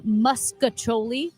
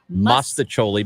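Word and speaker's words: mostaccioli: of carpet yes um saying muscoli oh my God that instead of maoli it is pronounced maoli because there's a t in Itachi that sounds wrong and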